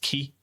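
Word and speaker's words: 木: Okay, so this kanji is a common kanji seen in Japanese that's pronounced ki and it means tree.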